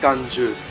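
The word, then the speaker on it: 缶ジュース: We pronounce this word as कंजूस.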